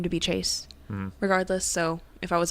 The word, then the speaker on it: Chayse: I've got Chayse, I've gotten Chasey, I've gotten Chassis, I've gotten Chaz, Casey. I'm like, y'all, it's just like Chase. It just has a Y thrown into it, okay?